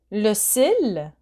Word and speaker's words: le cil: Eyelash, le cil. Here you pronounce the L, le cil.